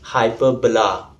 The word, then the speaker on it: hyperbola: It's called hyperbola and it ends with the letter A. It's pronounced as hyperbola.